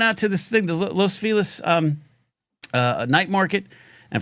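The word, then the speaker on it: Los Feliz: And for those keeping score at home, that's how you say it because it was named after someone that was their name. Um, not Los, but Felis.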